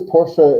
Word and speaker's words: Porsche: Porche or is it por I think it's Porsche because that's how I do yeah it is Porsche in Germany because you know you pronounce every letter yeah and so e gets pronounced um and it's someone's